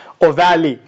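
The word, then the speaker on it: ovale: known as plasmodium vivax plasmodium or val some people pronounce this as like or valley so plasmodium vivax of val or valley falciparium malaria now the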